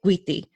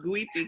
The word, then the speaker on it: Guity: And it warms my heart to introduce to you all the amazing Nydia Guity. Did I pronounce your last name right? Yes, you did. I love when I hear people pronounce Guity correctly.